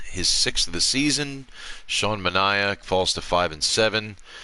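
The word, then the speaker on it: Manaea: hits on the day sean manaya apparently i had it pronounced it wrong as matt vasquez apparently corrected me as sean manaya takes the loss hector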